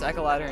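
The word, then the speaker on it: Echeladder: Is it Echelladder or Echoladder? It's pronounced Echoladder and you can fight the Homestuck.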